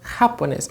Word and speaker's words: japonés: In Spanish, I have some stressing syllables, okay? So in this case, it's japonés. It's not japonés or japonés. It's japonés. Can you notice the difference? Okay, so it's the last one is the strongest.